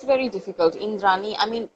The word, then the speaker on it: Indrani: Indrani, I mean, he pronounces it with a like soft D, but I like it that way.